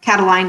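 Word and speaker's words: Catiline: Cataline is how we say his name in English.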